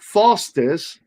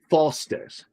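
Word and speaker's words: Foster's: And that's where I learned that Faustus is not a beer that's drunk by anybody from Australia.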